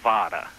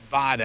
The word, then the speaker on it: Vada: That is Steve Vada. Vada.